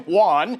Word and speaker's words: Juan: Because I watched the clip over and over again, and he does call him Juan. He pronounces it correctly. He doesn't use a condescending tone of voice. It's just Juan.